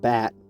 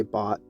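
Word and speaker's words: BAHT: Pronounced bat. I like to say bot, but oh well.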